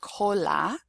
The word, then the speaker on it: cola: If you have a CO, a CA, a CU, or a C plus a consonant, it will be pronounced K. So for example, in the word cola, which is tail or